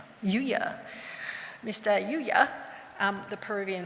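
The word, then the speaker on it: Lliuya: Nigel, can you pronounce his name for me? Yuya. Yuya.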